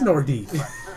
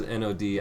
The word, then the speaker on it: Nordiques: You said You said Nordique. It is Nordique. It is spelled Nordiques. Oh. It is Nordique. I thought it was Nodi.